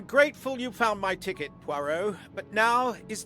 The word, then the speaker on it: Poirot: I'm grateful you found my ticket, Poirot, but now is not convenient. I certainly didn't expect such a resistance. Resistance. Poir rhymes with moi, kind of. We in French makes a wa sound, like.